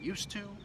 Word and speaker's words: used to: Whether you're saying used to or used to, it's the same pronunciation. The D and the T, they blend together to create one sound.